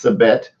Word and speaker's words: Sabette: She said Sabe is more I think you said the Puerto Rican way to say it, but it's Sabette, which is absolutely awesome.